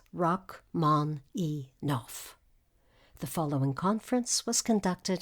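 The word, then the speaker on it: Rachmaninoff: land of the Zar the correct pronunciation of the name as given by the composer is rock man e noof the following conference was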